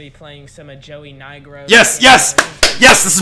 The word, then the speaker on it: Nigro: But anyway, if you check out his channel, it's Joey Nigro. For the longest, I really thought it was Joey Negro. I I don't know. No, it's not how you say his name.